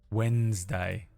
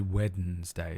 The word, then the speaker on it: Wednesday: Wednesday. Wednesday. Wednesday. Weddednesday. Weddens day. I've heard the only time I hear anyone say weddings day is if they were born before 1951 or they're in the royal family.